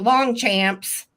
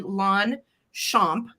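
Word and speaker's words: Longchamp: as years okay right so um and it's pronounced long champ okay so while it looks like long Champs long Champs luxury long Champs no it's actually lwn shamp from the Big and Tall store pronunciation in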